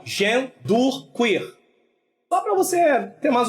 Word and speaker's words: genderqueer: eu botei uma pronúncia para vocês saberem como pronunciar essa palavra, tá bom? Que é genderqueer, tá? Tá aí, ó, genderqueer.